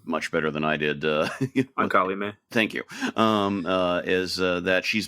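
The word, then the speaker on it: Ancalimë: and the idea is that, you got the pronunciation of their daughter's name much better than I did. Ankalime.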